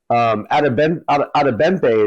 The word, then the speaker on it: Adebimpe: Adebempe is what it sounded like when I heard the pronunciation.